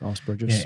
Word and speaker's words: Asperger's: How do you pronounce it? Asperger's.